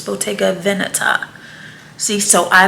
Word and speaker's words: Bottega Veneta: somewhere above 400 and fun fact i learned that it's not pronounceable take a it's botega veneta see so i like